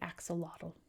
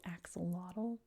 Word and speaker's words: axolotl: You know, like we say axolotl. And they're saying, "Actually, axolotl is pronounced like this." But I speak English, and in English it's pronounced axolotl.